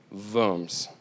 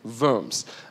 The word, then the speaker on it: Worms: rolled into the German town of booms I practiced that a lot okay it's spelled worms which is misleading okay but it's booms in so they rolled into